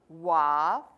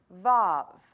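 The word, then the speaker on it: ו: letter number six and sometimes it is pronounced Wow or Wow or valve but I'm going to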